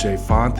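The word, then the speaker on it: J. Fonte: It's J.Fonte, the E is silent, and today I'm going to show you how to make an easy stewed beef crockpot recipe.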